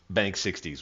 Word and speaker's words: Banksixdeis: Bank 60s. We'll see that name pop up at the top. That's how to pronounce it.